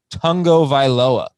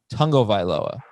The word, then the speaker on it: Tagovailoa: his last name right there is a sneaky n in there even though it's not in the actual spelling it's tongo viloa tungo viloa so we're gonna we're